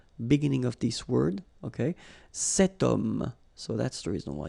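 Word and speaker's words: cet homme: Setum.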